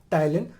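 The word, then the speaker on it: ptyalin: ठीक है, PTYLIN, P silent होता है इसमें, टाइलिन।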